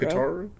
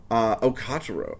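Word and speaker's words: Katarou: Kataru? Kotaro. Oh my god. I haven't heard this pronounced probably since it aired, so I'm sorry.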